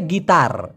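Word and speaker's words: gitar: হয় গিটার গিটার কারণ এই টি ওরা ট এর মত উচ্চারণ না করে বাংলা ভাষার ট এর মত উচ্চারণ না করে ত উচ্চারণ করে এইজন্য গিটার না হয়ে হবে গীতার গীতার আমরা বাংলা কি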